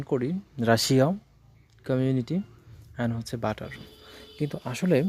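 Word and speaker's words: Russia: double S আই এ রাশিয়া কিন্তু আসলে এটা রাশিয়ান নয় এটার উচ্চারণ সঠিক উচ্চারণ হচ্ছে রাশা রাশা সঠিক উচ্চারণ হলো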